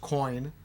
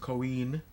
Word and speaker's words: Coin: It's not pronounced coin because in Italian that's pronounced Coin.